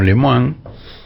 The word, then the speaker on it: Lemoine: más lem lemoine lemoine yo la llamo leman realmente no hay por qué negarle la pronunciación original de su apellido no bueno Lilia